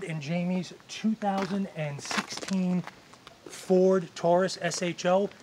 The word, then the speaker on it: SHO: Jaime's 2016 Ford Taurus SH oh now pronounced show as you can see